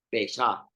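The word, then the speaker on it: פסח: Pesá, así se pronuncia, Pesá, que significa literalmente pasar por alto.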